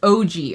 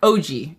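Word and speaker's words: Ougi: O U Gi, pronounced OG. Okay. Thank you, Kesha. Kesha's here to fact check me. I appreciate that. Yeah, OG.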